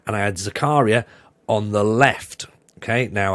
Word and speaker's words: Zakaria: name wrong last week he's not called Dennis Zachariah uh apparently it's called Uh Dennis Zakaria so I went with